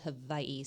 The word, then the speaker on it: Hawaii: yes well hope they're having a good time out there yeah how could you not in Hawaii my husband was born and raised in Hawaii I think it's actually officially called Havi so he'll probably chastise